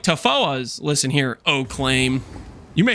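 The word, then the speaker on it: Tawhoa: The WH is pronounced like an F, Lance, so it sounds like Tafoas.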